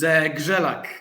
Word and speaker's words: Grzelak: Is Grzelak the right pronunciation? It's Grzelak. Grzelak means, Grzelak is R and Z in Polish language is called as Ż.